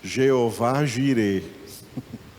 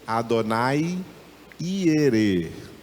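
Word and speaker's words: Adonai Yireh: o verbo prover proverá bom primeiro lugar em hebraico não existe nada com som de G eles não pronunciam não existe no idioma hebraico ja je j j juu não existe isso o que Abraão falou foi Adonai iere não Jeová Jê ele falou Adonai iere Adonai é o Senhor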